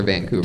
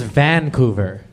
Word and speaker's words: Vancouver: vancouver i've heard of vancouver but never vancouver what have you heard of vancouver and what what did i say vancouver you put the wrong and fastest on the wrong syllable okay i i don't